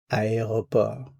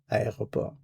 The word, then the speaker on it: aéroport: Keep in mind that airport has four syllables, so the first one is a, the next one is e, then o, and then p. Students sometimes have difficulty with this word, so remember the four syllables. A e o p.